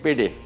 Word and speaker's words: pide: ठीक है ना, PIDE, लेकिन तुर्की में इसको प्रोनाउंस करते हैं पेडे, PIDE है, लेकिन इसको पेडे बोलते हैं।